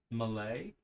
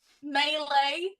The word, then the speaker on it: melee: like what was that they're attacking what now Malay M that is so it is so I'm not hit on my players I'm hitting on my B all right melee there you go I'll say it like you